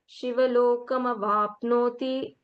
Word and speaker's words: शिवलोकम् अवाप्नोति: that it is easy, but when we will pronounce, we will say Shivalokam avapnoti.